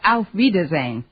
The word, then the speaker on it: auf Wiedersehen: actually the word you have in mind is pronounced auf wiedersehen oh well I never was much gooder than